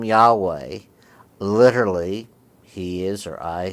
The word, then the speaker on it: Yahweh: In some Old Testaments, you'll find it written as Jehovah. Now, that name resulted from a series of pronunciation changes through the history and is not how it ever sounded in ancient times.